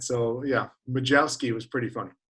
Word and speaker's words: Majewski: take anything close but i've heard majowski majowesky mahouski um you know they tried to over pronounce it majewski is the most common just because that's the way it's it looks um but at winter ball i was majeski and that was that was pretty funny especially with the accent